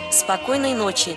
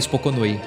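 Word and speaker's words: Спокойной ночи: Spokoynoy nochi. Ah, eu quase acertei. É, então. É Spokoynoy nochi. Spokoynoy nochi. Spokoynoy nochi. Que nós falamos mesmo? Eu falei Spokonoi.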